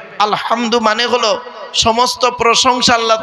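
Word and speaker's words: الحمد: আলহামদুলিল্লাহি রাব্বিল আলামিন আলহামদু গলার ভেতর থেকে এটা উচ্চারণ করবেন আলহামদু মানে হলো সমস্ত প্রশংসা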